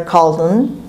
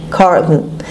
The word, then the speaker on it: Carlton: حلقشون مثل تلفظ میکنن Carlton. ولی همون Carlton هم که بگید اشکالی نداره و حواستون باشه مثل همشه تأکید میکنم O-N is pronounced as schwa Carlton.